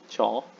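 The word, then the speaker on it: চ: with the letter c cha it's pronounced just like in cheese or cheap or what else chubby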